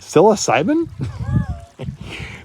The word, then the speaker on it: psilocybin: You pronounce it sill. The P is silent. I, B, syllab. Maybe that's not how you spell it. Psilocybin?